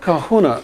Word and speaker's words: kahuna: If you break the word down into three syllables, ca, who and na, ca means the or the one.